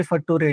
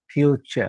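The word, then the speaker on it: future: nation station nation station T आर य असेल तर चर म्हणायचं नटूरे फटूरे म्हणायचं नेचर फ्युचर त्याच त्याचप्रमाणे ओ यू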